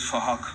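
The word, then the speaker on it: Phuc: His name is Fahak. It's spelled with a PH, so it sounds like Fahak.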